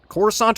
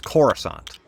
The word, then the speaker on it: Coruscant: So, how do you pronounce it? Corissant or Coruscant? For the record, if you say Coruscant, you are in fact dead to me. Say it correctly. It's Coruscant.